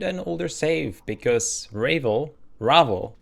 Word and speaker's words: Ravel: I reloaded an older save because Ravevel Ravvel Ravvel. That's right. That's the way they pronounce it.